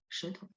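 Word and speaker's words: 舌头: Teman-teman bisa baca SHE, nada 2 dengan benar, maka huruf-huruf yang ini, kan dia bunyinya sama, akan baca dengan benar, maksud saya.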